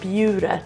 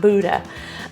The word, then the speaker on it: Buda: And yes, it's pronounced B-Y-O-O, Buda, not Buda.